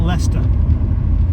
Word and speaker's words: Leicester: Coventry go and try how about Leicester rhymes with chicken molester I don't know where